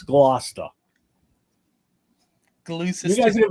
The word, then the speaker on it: Gloucester: It's Gloucester. Gloucester. You guys are gonna be mispronouncing.